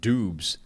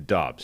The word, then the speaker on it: Doubs: gonna go to dogs we're at dubs some people started off with doobs yeah that was awful no uh you started off i've seen pronunciations at dubs a lot of people are saying dobbs we're making the official pivot to dubs let's go to dobbs